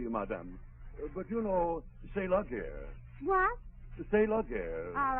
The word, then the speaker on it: la guerre: But you know, c'est la guerre.